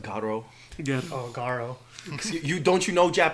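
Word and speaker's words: Garou: Folks were playing Garu online against each other's. Excuse me, it's pronounced Garo.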